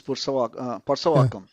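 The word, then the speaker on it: Purasaiwakkam: Did you say Percywakkam or do you say like so we do it the Anglo way, which is Pursawakam. yeah. Pursawakam, yeah. It's like Purusaiwakam, I Yeah.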